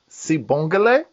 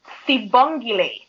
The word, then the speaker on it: Sibonglie: All right, and help me say it because I do not want to mispronounce this. That's Sibonglie. Sibonglie. Sibonglie.